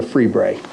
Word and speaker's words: Lefebvre: And the break came in the form of a gentleman named Anthony the Freebray. And for the court reporter, that's spelled Lefebvre.